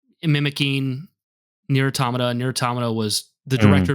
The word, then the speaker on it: Automata: but He's a cool boss, but yeah, Nier Automata for you is, or Automata is how you say it.